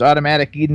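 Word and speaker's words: Automatik Eden: So, the name of the band is Automatic Eden and they spell it A u- T O M A T I K E D E N.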